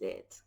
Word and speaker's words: y: What does it stand for? How do we use it?